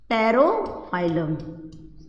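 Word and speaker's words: Pterophyllum: एक और फिश है टेरोफाइलम, पी इसमें साइलेंट होता है, टेरोफाइलम।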